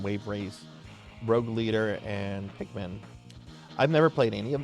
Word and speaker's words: Pikmin: It's Pikmin. Yeah, brutality. Pikmin. Okay. But yeah, okay, so what games? Strategy guides for Luigi Mansion, Wave Race, Rogue Leader, and Pikmin.